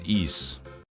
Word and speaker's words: Ys: where was it you pronounce it e it's just e letters from Santa I